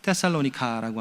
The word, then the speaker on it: 데살로니가: 테살로니카에서 그 와이프 이름을 따가지고 데살로니가라고 하는, 우리식 발음은 데살로니가고 원래 이제 테살로니카라고 하는 도시를 따서 이제 지었던 이름이죠.